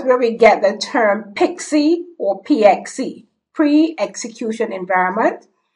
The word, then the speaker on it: PXE: option 60 which is the PXE option pronounced pixie standing for pre-boot execution we